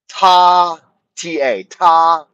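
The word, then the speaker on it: 他: In Chinese, they only have one pronoun and it's one pronoun, and in Chinese it's pronounced ta, ta.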